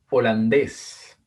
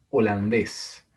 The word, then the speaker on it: Holandés: Holandés. Holandés. Una palabra aguda terminada en S.